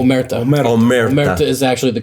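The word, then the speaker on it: omertà: Yes, and we're actually Umberta. Am I saying it correctly? Omerta.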